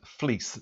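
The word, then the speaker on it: Vlies: the different grades of fleece. That's pronounced fleece, but it's spelt V-L-I-E-S.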